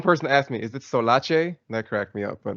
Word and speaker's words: SolAce: Oh, just to make sure about the pronunciation, it's SolAce? SolAce, you got it. SolAce, okay. Nice, nailed it. I had one person ask me, "Is it Solace?"